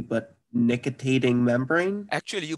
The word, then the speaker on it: nictitating membrane: I have no clue if I can pronounce this correctly, but nictitating membrane? Actually, you pronounce it right. It is nictitating membrane.